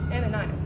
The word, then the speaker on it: Ananias: And how do you pronounce his name? Ananias.